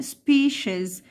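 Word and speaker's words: species: وانواع او فصائل اسمها سبيشيز سبيشيزز خذها بقى عندك قاعده السي اي لو جوه ورائها حرف متحرك بانطقهاش خلاص السي اي لو جوه حرف متحرك بنطقهاش زي كلمه كلمه كلمه سبيشل تمام يبقى نوع او انواع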